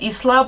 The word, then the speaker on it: Isla: She's still perpetuating this love triangle between Isla, whose name is pronounced Isla, but who cares about that?